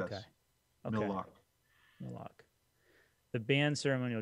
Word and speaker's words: Mille Lacs: It's also not Millie. It's Mill. Mill. Okay. Thank you. It's a French word. Okay. And it could be just lock. I don't know if they pronounce the S.